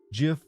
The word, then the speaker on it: GIF: language then we changed GIF should be said like gift you know what I'm going